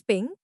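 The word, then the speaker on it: PNG: the largest file size पीएनजी pronounced S पिंग portable network graphics files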